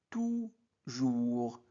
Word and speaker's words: toujours: Toujours. Donc, ou. Toujours. S ne se prononce pas.